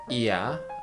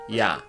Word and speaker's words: ㅑ: One thing you have to remember is diphthong is not 2 syllable. You have to pronounce it as 1 syllable. What I mean is, it is not iya, but ya.